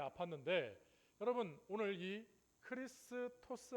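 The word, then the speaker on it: Χριστός: 우리가 이제 X라고 보이는데 어 사실이 X라고 하는 것이 그 헬라어 언어에 보면 알파벳 헬라어로 알파벳은 저게 크이라고 읽어요. 그래서 이게 어디에 쓰이느냐면 바로 우리 예수 크리스토스라고 얘기할 때 우리는 그리스도라고 번역이 돼 있잖아요.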